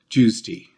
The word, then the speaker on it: JWST: call it the JWST, often pronouncing it run together almost like a single word, which ends up sounding like Jews tea.